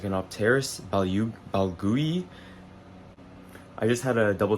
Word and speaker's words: balgooyi: Uh, this plant is called like anopteras baloui. I just had to double check the pronunciation real quick and it is balui.